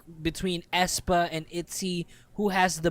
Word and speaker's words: aespa: out, when they got released and everything, I had a friend who couldn't pronounce their name, so she was saying asthma. Asma.